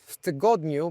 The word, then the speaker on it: tygodniu: form, which is tydzień, tygodniu, but also the stress changes. Tydzień, the stress is on the first syllable. Tygodniu is on the second because you add something else.